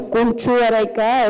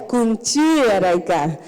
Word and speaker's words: Kunchi Araika: No es Kunchu Araika, es Kunchi Araika.